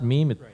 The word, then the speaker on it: meme: I had no idea how to even pronounce meme like meem doesn't sound like does it look like it's going to it's pronounced meeme me me or it's yeah right